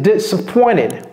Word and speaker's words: disappointed: Et vous voyez, j'ai pas dit disa. Quand bien même c'est un seul S, ça ne se prononce pas comme un Z, ça se prononce comme si c'était deux S.